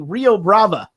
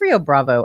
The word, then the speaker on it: Rio Bravo: daddy mendez uh we're talking about the movie rio brava i had no idea what this was [